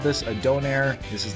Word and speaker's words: donair: they call it a Donaire the place is called uncle Mose don't airs and that's how it's pronounced Donaire so if you don't